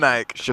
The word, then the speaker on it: Vinayak: Vinayak is the right Vinayak? pronunciation. Vinayak.